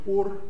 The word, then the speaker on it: Ur: The Bible tells us that he lived in the city of, many of you pronounce it Ur, it's actually Ur of Chaldea.